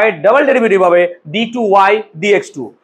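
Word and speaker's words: d²y/dx²: d2y বাই dx2 বা d2y dx2। d square বললেই সেই জায়গায় ভুল, প্রোনাউন্সিয়েশন এরকম হবে d2y dx2।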